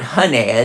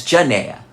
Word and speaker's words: Janaea: It's not Hanea, it's Janea.